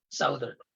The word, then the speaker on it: southern: I used to pronounce this as southern when I was younger. Southern. Buti na lang may nagturo sa akin. Thank you for people like those. So it's southern.